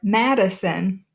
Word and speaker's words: Madison: the second one or Madison if you stop and think about it there are three syllables there Madison we don't say